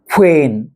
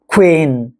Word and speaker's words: queen: queen เห็น มั้ ฮะ ต้อง มี เสียง ออก ทาง จมูก นะ ฮะ ควีน ควน ควน นะ